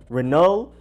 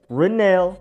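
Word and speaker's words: Renell: not that hard but it could have been Renault or email a Reno so I had to make sure it is Rennell ring ring nail ring Rennell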